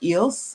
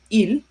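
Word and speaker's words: ils: Please take note it's not pronounced eelss. I know sometimes my students make a mistake and say eels. No, the s is silent.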